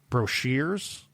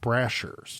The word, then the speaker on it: Brashers: Also, his last name is apparently pronounced brochers and not Brashers.